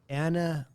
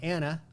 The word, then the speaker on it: Annamh: the second word i was going anna kind of like ella from craig ella key i thought maybe anna with the girl's name but i have no idea why there's an m and a silent h on the end so well you nailed